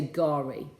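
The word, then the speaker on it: K'gari: It's spelled Kugari, but you say Gari.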